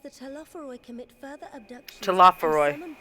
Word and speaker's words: Telophoroi: Telophoroi. Okay, so next time I mispronounce that, that's how it's pronounced.